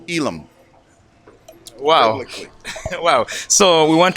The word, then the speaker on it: Elim: Elim Church, and you told me a different pronunciation. Everybody says Elim, but it's Elam.